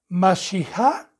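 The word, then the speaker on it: משיח: Ya le vuelvo a recordar, la palabra Mesías, que en hebreo se pronuncia Mashiach, y que traducido significa el ungido o escogido de Dios.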